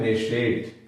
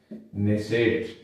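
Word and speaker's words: Knesset: Iran Israel की संसद का नाम है नेशेट। क्या नाम है? नेसेट। और इंग्लिश में इसको कहते हैं के एन E double S ई टी। के यहां साइलेंट रहता है।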